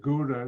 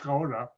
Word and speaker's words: Gouda: You pronounce it Gouda, it's really Gouda.